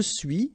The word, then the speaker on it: suis: Okay, so je suis, final S not pronounced, tu es, okay, so